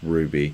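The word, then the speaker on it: RWBY: I don't know much about the Ruby universe other than that that Rwy is pronounced Ruby.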